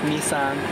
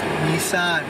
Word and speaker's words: Nissan: It's pronounced Nissan. Nissan, there we go.